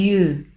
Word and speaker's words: yeux: On ne prononce pas le X à la fin.